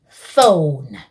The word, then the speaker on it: phone: The letters PH make the sound F, so we say phone.